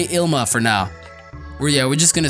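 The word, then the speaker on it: Ilima: We're just gonna say Ilma for now. We're just gonna say Ilma. It's Ilmia. There we go. It's Ilmia. So I've butchered a lot of shit, but please bear with me on that.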